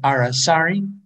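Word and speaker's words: aracari: from a common ancestor one is the colored arasari that's how we we pronounce this name colored arasari and down below another near endemic uh the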